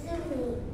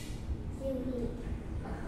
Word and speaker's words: Juhi: My name is Zumi. Can you spell it? J U I no. H. Zumi.